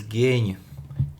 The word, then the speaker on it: géň: Mouse is pronounced as géň. Géň.